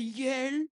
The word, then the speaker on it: Yale: C'est Yel. Parce que vous connaissez l'université de Yel hein aux États-Unis et